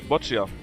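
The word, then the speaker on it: Boccia: I said the strike up is only C actually ah botcher in uh that's how you say it in Germany botchia was something similar not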